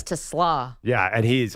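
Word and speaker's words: TeSlaa: I found out that I've been saying Isaac Tesla's name wrong all the time. Yeah, it's Tesla.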